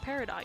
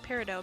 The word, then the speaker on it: peridot: but did you know you're not supposed to pronounce peridot like peridot you're supposed to pronounce it like peridot because the t is silent but steven universe changed